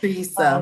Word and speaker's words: Teresa: So, Teresa rhymes with Lisa.